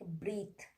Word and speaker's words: breathe: When E is present just after the th sound, at that time also is the silent, like breathe, cloth, teeth, right? Breathe, teeth, cloth, C-L-O-T-H-E, cloth. We are not pronouncing E sound, right?